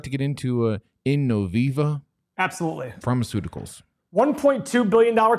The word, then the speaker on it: Innoviva: past five years for innoviva 133 to 336. check mark there is it in novi i can't pronounce this stuff you know it's innoviva innoviva you thanks bro um